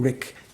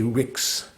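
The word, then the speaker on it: rigs: there's a different it's although it's pronounced the same rick it's spelled differently like r-i-g-s one doesn't say rix and tibetan one still says rick when spelled that way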